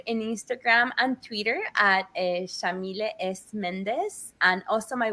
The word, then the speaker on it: Yamile: he named me so Shamil is an Arabic name pronounced with an Argentine accent we say they white like an sh and then Sayed is